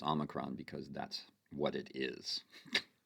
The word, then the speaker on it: omicron: recently uh and i said you know here pronounced omicron and omicron he said well it's omicron because that's what it is so i would